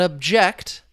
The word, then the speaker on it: object: So, I did not object. We're talking about the verb. You see the stress on that second syllable.